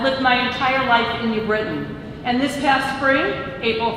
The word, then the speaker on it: New Britain: pronounce our City's name it is not New Britain it is New Britain hi I'm Nan Sarah